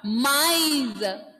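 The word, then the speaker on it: maïs: Listen to those pronunciation, two pronunciation clearly. First one, mice. First one is mice. A and E sound is pronounced clearly. Mice. And here, together I am reading maize. Sorry, S will be silent. Désolé moi. May. May. S will be silent here. May. See the difference?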